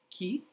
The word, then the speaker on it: και: So here in this example, from phonology, the word for and is pronounced in the standard-like way, ki, in the first instance, and in the Cypriot way with the palatal affricate ch in the second instance.